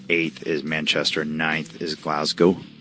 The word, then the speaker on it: Glasgow: 9th is Glasgow. I was told I'm saying it wrong. Glazga. Glazg. Glazga. Glazg. Glaz. Glasgow.